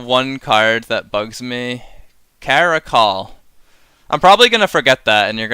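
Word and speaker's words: Caracal: I know that it's not Carousel. Carousel. What's Carousel? It is a call. Oh, Caracol.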